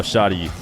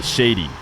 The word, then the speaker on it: Shadi: you're saying it wrong I was told that that's how shoddy was uh pronounced by the way you guys are saying that you think it should be Shady or that it reads like shady but to be fair